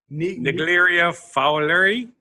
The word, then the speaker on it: Naegleria fowleri: But the infectious brain-eating amoeba called, I can't pronounce it. Naegleria fowleri.